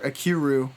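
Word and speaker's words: Ikiru: critical in movies like Akira or akiru I believe it's pronounced I think yeah yeah and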